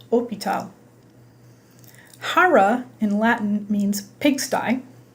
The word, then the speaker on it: hôpital: If you've ever had any French, you'll remember that the word hotel, for example, is pronounced hôtel, and the word hospital is pronounced hôpital.